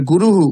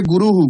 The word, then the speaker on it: गुरुः: আর গুরুহু উচ্চারণটা হবে গুরুহু। গুরুহ না, গুরুহু।